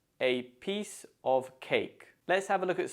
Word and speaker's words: piece of cake: how easy it was note that the stress falls on peace and Cake because we don't tend to stress articles or prepositions so it's a piece of cake let's have a look